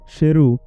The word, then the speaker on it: শেরু: তার নাম সারু নয়। শেরু যার অর্থ সিংহ।